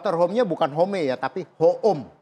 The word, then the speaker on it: Hoom: Jadi kenapa kita bikin dokter hoom? Karena ini kan kita mau sebenarnya tadi dokter home, dokter di rumah. Tapi kalau kita bikin dokter ho e eh e home yang bahasa Inggris, orang bacanya dokter home.